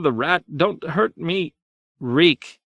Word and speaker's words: Reek: Ring of iron keys reek tears ran down his cheeks I remember I do his mouth opened and closed my name is reek it rhymes with leak in the dark he